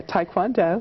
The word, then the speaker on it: Taekwondo: because I watched you get award for your taek kond do is that how you say it yeah Taekwondo right and I know that you're interested in